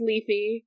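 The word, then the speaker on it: Lethe: about the river uh I think this this says it's pronounced leafy um it's got the ey I guess it's got the ey I mean they can say it like that I'm just going to say it leth probably cuz that's my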